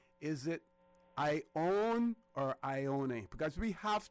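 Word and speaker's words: Ionie: Yes, Ione. And it's pronounced Ione. The E is not silent.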